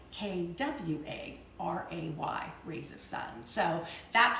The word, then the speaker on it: Kvarøy: it yes it's spelled KVA ro why it's pronounced qua Rea like kwa RA Y rays of Sun so that's how we get